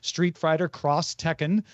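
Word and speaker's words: Street Fighter X Tekken: In Japan, when you see an X in marketing, it's usually pronounced cross. This is very prevalent in video games. For example, Street Fighter Cross Tekken is pronounced that way.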